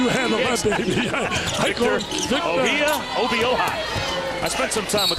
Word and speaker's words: Obioha: Victor Obioha. I spent some time with the pronunciation guy before tonight's game. Obioha.